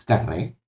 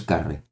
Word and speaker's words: Carré: tu apellido lleva acento en la E. O sea, este lleva acento en la E. ¿Es Carré? ¿No? ¿O es Carré? La curiosidad. Hacer las letras así, hacer la letra Superman. Bo. ¿No? Vale, es Carré, perfecto.